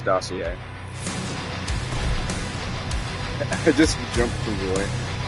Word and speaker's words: dossier: Yes, that's how you pronounce that, as dossier.